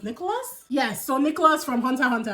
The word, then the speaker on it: Hunter x Hunter: Yes, so Nicholas from Hunter x Hunter. Apparently we're not supposed to pronounce the X, people.